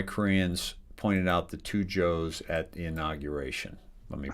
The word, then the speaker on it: Cho: Service detail, David Cho, is pronounced like Joe and Koreans had had uh jokes. Um the two Joe's. Why Koreans pointed out the two Joe's at the inauguration.